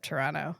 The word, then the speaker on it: Toronto: uh a suburb of Toronto H Toronto Toronto say it right there are no te's in Toronto where do we stay